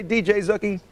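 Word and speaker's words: DJ Zooky: that by the way DJ zookie DJ Zuki yeah okay that's how I pronounce it like Boogie with a z hey have a great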